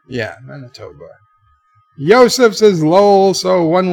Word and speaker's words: Manitoba: wannabes will not miss it lmao that I pronounced that right Manitoba yeah Manitoba Joseph's is Lowell so one way ticketed is